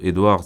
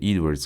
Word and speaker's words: Edwards: Edward, je le prononce à la française, c'est Edwards en fait.